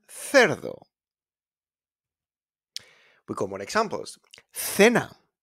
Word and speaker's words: cerdo: And then it's pronounced like a thanks, that sounds, when it's followed by a E and an I, like in ciclista and cerdo.